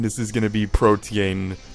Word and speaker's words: Protean: is going to be protean protan I'm learning to say it right because for the longest time I said protein and apparently that's wrong and I apologize for